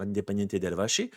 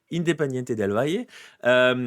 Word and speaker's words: Independiente del Valle: On va le prononcer pas à l'Argentine. Si vous avez un Argentin qui vous parle, il va vous dire Independiente del Valle. Mais bon, Independiente del Valle.